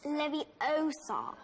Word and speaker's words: Leviosa: someone's eye out besides you're saying it wrong it's leviosa not leviosa you doing then if you're